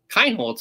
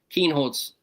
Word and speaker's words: Kienholz: I was listening to it and they said Kinholtz and I was like all right. I started changing it to to that and then I bring on Keenhold's high school coach and the first time he's